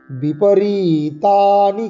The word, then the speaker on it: বিপরীতানি: নিমিত্তানি চ পশ্যামি, নিমিত্তানি চ পশ্যামি বিপরীতানি কেশব। বিপরী, এই যে দীর্ঘস্বরের টান, বিপরীতানি, বিপরীতানি চ কেশব, কেশব এরকম করে।